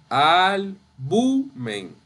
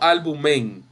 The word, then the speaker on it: albumen: La sílaba tónica es la bu, sin la M. Albumen. Bien, no albumen, es albumen. Y es grave o llana, como ustedes han dicho.